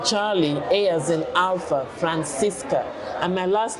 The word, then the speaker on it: Francisca: name spell your name his name is Francisca it's like San Francisco instead of the oh it's an A but I'll spell it